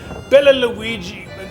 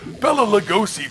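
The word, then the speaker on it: Bela Lugosi: ever made plan nine from outer space starring bella luigi billy the gruesome villain i can never pronounce his name jack you know the guy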